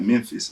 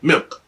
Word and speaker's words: Memphis: It's the same with, and it's not Memphis, it's Memphis. Memphis, bro. It's real quick. It's real Memphis. That's it. It don't sound like you got no N, Memphis.